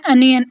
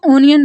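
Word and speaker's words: onion: Next word है अनियन। अनियन बोलते हैं प्याज को। बहुत ज़्यादा लोग इसको ओनियन बोलते हैं। ओनियन ठीक प्रोनाउंसिएशन नहीं है, हम इसको अनियन बोलेंगे।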